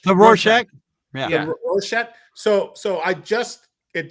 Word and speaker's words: Rorschach: Rorschach? The Rorschach.